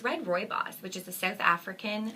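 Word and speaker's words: rooibos: is uh it's red Roy boss which is a South African how do you say that never Roy boss Roy boss you so you lose the first o basically basically yes Roy boss okay and it means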